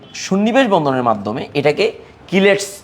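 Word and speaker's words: chelating: তাহলে এখানে আমি বলব যে এটা কিলেটিং agent কিলেটিং agent. কিলেটিং agent. সিচি উচ্চারণ কি দিয়ে হয় উচ্চারণ। এটা একটু মনে রাখবা।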